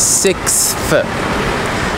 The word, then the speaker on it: sixth: So the next one is sixth. Now, of course, you don't want to emphasize that too much, obviously, but it needs to be there still.